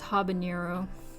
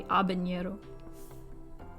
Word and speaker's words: habanero: so fun it's like everybody says habanero that's not correct it's supposed to be habanero i have so i